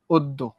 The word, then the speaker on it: অদ্য: দেখো অদ্য, অদ দয় ওকারে দো, অদ্য।